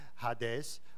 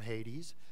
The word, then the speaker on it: Hades: the the way that the Greek would pronounce it this is if it was a proper noun that is actually a name of one of the Greek gods is hadees or Hades the god of the